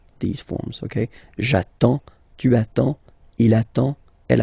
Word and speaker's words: j'attends: J'attends. Okay, you get D and S. Well, basically you don't pronounce them. Okay, and then you get only the sound attends. Nasal here, en, j'attends.